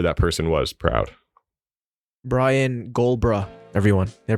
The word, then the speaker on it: Gulbraa: Brian Gulbraa, everyone. Did I pronounce that right?